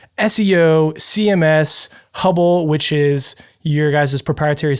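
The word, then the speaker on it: HubL: Yeah, so I'll start with probably the easiest to define, which is Hubble, sometimes pronounced Hub-L. Not really an acronym, just the first part of the word HubSpot followed by the letter L.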